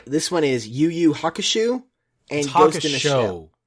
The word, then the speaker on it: Hakusho: There's no U there. Why do you think it's Shu? I don't know, because there's Yu Yu... Hakusho.